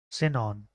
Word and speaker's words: Sinon: Wait, no, but her name's like Sion? Sion. Sinon. That's how you say it.